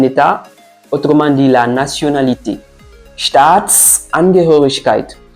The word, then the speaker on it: Staatsangehörigkeit: Staatsangehörigkeit. Le S qui est là permet de relier les deux mots et nous permet aussi de faire des petites pauses lors de la prononciation.